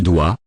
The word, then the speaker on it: doit: Il doit. Il doit. Elle doit. Elle doit. Same pronunciation, final. T. Is not pronounced.